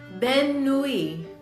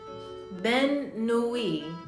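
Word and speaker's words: bonne nuit: Hold on, I'm trying to pronounce it. Because I don't know French. Okay. Ben nuit. Ben nuit. So it's B-O-N-N-E space N-U-I-T. Ben nuit.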